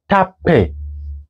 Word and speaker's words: tape: And then this is not tape, not tape. Can you read it with me? Tape, okay? Tape. E is silent, and then TA is tape.